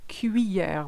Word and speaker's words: cuillère: Cuillère, one of my favorite. It's notoriously awkward. Cuillère. So you've got two E sounds in there. You've got the cui and the Y of hier. Cuillère.